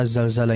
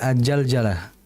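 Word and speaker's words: الزلزلة: dalam pengucapan huruf za jangan dibaca aljzalzjalah ya. yang betul adalah azzalzalah. Sama seperti idza zulzila. Jangan sampai diganti idza j zulzjila. Jangan sampai za diganti dengan jim ya.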